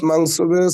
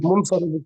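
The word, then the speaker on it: منصرف: মুফরাদ, মানসুবে, সহিহ। মানসুবে সহিহ, এটাই তো উচ্চারণ করতেছেন। আমি বারবার বলছি যে এটা উচ্চারণ মুনসারিফ, সহিহ, মুনসারিফ।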